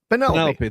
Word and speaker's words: Penelope: Not take come out of retirement, take over the reigns of government and save Penelope pen, how do you say Penelopey?